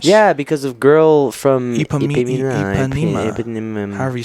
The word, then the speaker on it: Ipanema: I'm pretty sure it's Ipanema. It's definitely not in Panama. No, in Panama.